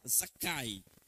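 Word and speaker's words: Zakkai: do nome Zaqueu então ali é a forma Hebraica como se escreve e a aqui é como se fala zakai e esse nome zakai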